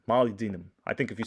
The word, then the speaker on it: molybdenum: Molybdenum. Molybdenum. I think if you say it fast, it makes you sound smarter. Molybdenum.